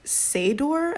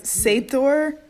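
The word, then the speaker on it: seiðr: And so the Icelandic word for magic is seidor, I think. It's S-E-I, and then that like curly D looking thing. Yeah. The hard C. It's like a half D, half TH yeah.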